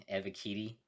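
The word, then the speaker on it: Ebiketie: yeah i think they're going to take him give me a bikini here eva kitty that's how they say it on uh that's how bengal pronounces it unreal even though they didn't play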